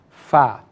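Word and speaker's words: ف: Fa. Pronounced like when the incisors go into the bottom lips. Fa.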